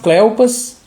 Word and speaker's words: Cleopas: Eu vou pronunciar assim, Cleopas.